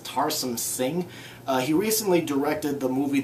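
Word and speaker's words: Tarsem Singh: And the movie was directed by, I believe it's pronounced Tarsum Singh.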